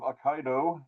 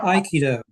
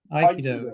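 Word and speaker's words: Aikido: Um, did I pronounce that right? Uh, Iikido. Iikido. Yeah.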